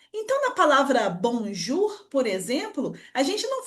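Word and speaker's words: bonjour: Então, na palavra bonjur, por exemplo, a gente não fala bonjou, a gente fala direto bonjur.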